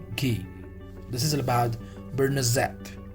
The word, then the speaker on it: beurre noisette: The pronunciation of this is beurre noisette.